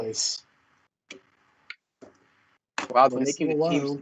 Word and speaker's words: Clase: Clase. Pronunciation guide in the MLB press release, CLAW-SAY. Woo. Yeah, Clase.